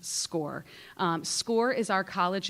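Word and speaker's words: SCOIR: program and call it Squire that is totally fine um and those are seniors um it looks like Squire it is pronounced score um score is our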